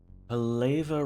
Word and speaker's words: Pala: have a quick check Pala rhymes with laa ah palava rhymes with